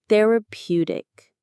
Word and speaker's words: therapeutic: And there is our next key word, therapeutic. Let's say it. Therapeutic. Therapeutic. The stress is on that third syllable, therapeutic.